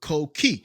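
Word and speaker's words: coquí: But it's pronounced like co key.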